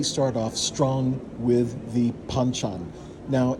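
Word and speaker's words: banchan: Like any traditional Korean restaurant, we start off strong with the panchchan. Now, it's usually pronounced with a bit of a P. It's spelled with a B, but you say it panchchan.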